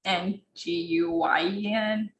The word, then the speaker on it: Nguyen: And like I always just like try to correct them, be like it's Nguyen, like try to pronounce the Y more so they understand.